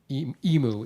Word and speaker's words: emu: sweating that's how so the proper the proper pronunciation everybody for emu is actually emu so there you go I'm sorry buddy Ken